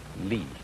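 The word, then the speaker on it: 理: fiber and muscle and it's pronounced lee this is a character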